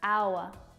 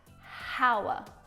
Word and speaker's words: hour: This word starts with a consonant letter, but the first sound that you hear when it's pronounced is a vowel sound. Ow, ow, hour. Not hour.